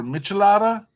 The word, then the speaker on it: Michelada: needed to have now, some people pronounce this differently because I think people want to pronounce it like Michelob, but Michelada or Michelada, which is a beer